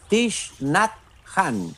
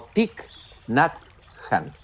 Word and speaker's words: Thich Nhat Hanh: Se leía como Thich Nhat Hanh o Thich Nhat Hanh. Después supe que en realidad se pronunciaba ese nombre, que es un nombre vietnamita, como Thich Nhat Hanh.